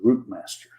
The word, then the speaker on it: Routemaster: come with the uh route master or as Dave says I I keeping I keep americanizing it the correct pronunciation based on the way Dave says it is the root master and so that is